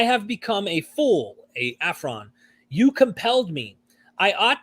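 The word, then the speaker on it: aphron: to brag i will not be a full afron is that how you say it yes because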